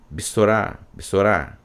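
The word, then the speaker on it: בְּשׂוֹרָה: um significado de que esse B é de passagem, muito rápido, tá? Já passando para a próxima sílaba, bessorá, tá certo?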